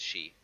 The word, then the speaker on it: Sidhe: Sidhe is she.